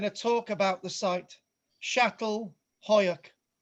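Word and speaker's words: Çatalhöyük: with I'm going to talk about the site shattle Hoak pronounced word perfect so this is a this this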